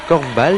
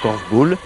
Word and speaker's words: korfbal: Une discipline venue tout droit des Pays-Bas, d'où sa prononciation, korfball et non korfball. Ça s'écrit d'ailleurs avec un seul L.